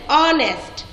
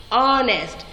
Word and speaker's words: honest: Because H is silent there. We are not pronouncing H there. We are not reading har, honest. Yes or no? We are reading R, honest.